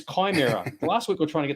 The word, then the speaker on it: Chimera: ship he'll jump in the Camaro I think it's Chimera last week we're trying